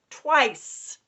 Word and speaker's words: twice: Next one, twice. I'm hearing a pattern. T. W. This one you can hear, so I'm not going to double underline it. T. W. Ice. This is silent final E, job 2.